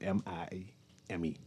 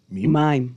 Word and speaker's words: mime: What how you pronounce that? M I M E. M mime mime.